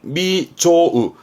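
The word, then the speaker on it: 未曽有: 합니다 하지만 시험 때 이게 나옵니다 미증유 미증유 발음은 미조우 발음이 중요합니다 보통은 소홀하지만 이때는 특이하게 하기 때문에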